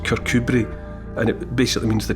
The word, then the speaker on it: Kirkcudbright: It's Kirkcudbright, but it's pronounced Kirkcudbright, and it basically means the Church of Cuthbert.